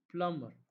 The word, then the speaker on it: plumber: L you can cut plumber plumber so B is silent B is solid rap